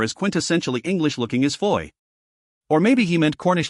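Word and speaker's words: Fowey: town they learned that the various fo voice were all pronounced Foy and that even aside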